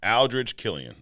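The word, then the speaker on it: Aldrich Killian: Aldridge Killian.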